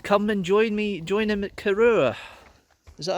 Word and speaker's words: Corrour: And he invited me to come and join him at Corrour.